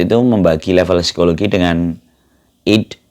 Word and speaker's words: id: Jadi Sigmund Freud itu membagi level psikologi dengan id bacanya gimana sih ya? Id gitu ya. Ide gitu ya. Ini bukan ide tapi ide, I dan D gitu ya.